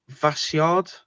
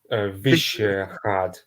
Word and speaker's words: Vyšehrad: Jan Žižka took control of the castle at Vasyard, which is like the royal castle. Vyšehrad.